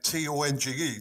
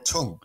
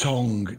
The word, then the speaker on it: Tonge: One thing I want to ask is your surname, T-O-N-G-E, do you pronounce it Tong or Tongue? It's Tongue, T-O-N-G-E, Tongue, as in your mouth, Tongue.